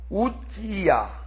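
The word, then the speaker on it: עֻזִּיָּה: 그러면 히브리어로 가봐요. 505818 우찌야. 그렇죠? 히브리어는 우찌야가 맞습니다. 우찌야가 헬라어로 오면서 오지야로 바뀌었어요. 어찌야 이렇게 아마 읽어야 되는 모양이죠.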